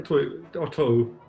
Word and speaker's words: two: Well, it takes a minute or two. By the way, you don't pronounce the W in two.